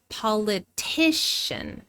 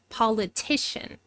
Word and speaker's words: politician: The primary stress comes immediately before the suffix politician, politician.